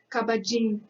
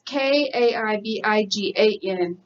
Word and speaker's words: Kaibigan: And then, I don't know how to say this word. Kabajin. Kabajinan. That's awful. It's Kaibigan, and it just means friend.